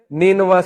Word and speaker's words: نینوا: تو عدس نے کہا کہ میں نینوا سے ہوں. نینوا اس کا تلفظ ہے NINEVEH.